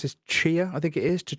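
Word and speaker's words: Tchia: They also, I think I'm going to pronounce this Chia. I think it is to Chia. I think Uh, it's Chaya.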